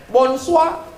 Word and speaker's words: bonsoir: Tulisannya Bonjour bacanya bonjong tulisannya bonsoir bacanya wonshua siapa nama kamu ngomong